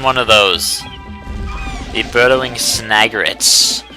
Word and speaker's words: Snagret: The burrowing snagrets. Something I pronounced wrong for years. I always thought it was snurget, but that I was young.